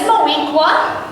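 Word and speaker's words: Moweaqua: The name is Moequa, rhymes with Shaniqua.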